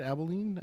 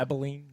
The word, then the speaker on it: Abilene: Abilene Christian. Is that how you say it? Abilene? I think so. Yeah. Abilene.